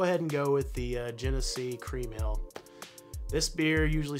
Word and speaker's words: Genesee: Apparently, I didn't pronounce it the right way. It's Genesee Cream Ale.